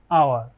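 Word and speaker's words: hour: We will meet in অ্যান আওয়ার। আচ্ছা, এই এই শব্দটা দেখুন, এই শব্দটার উচ্চারণ হচ্ছে আমরা এইচ এর উচ্চারণ করব না এখানে, হ্যাঁ।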